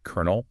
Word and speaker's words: colonel: We kept the Italian influence spelling with the L's but stuck with the pronunciation from the older French word with the R sound.